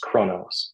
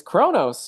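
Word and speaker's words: Qo'noS: me it's pronounced Kronos. It's, yeah, it's Kronos.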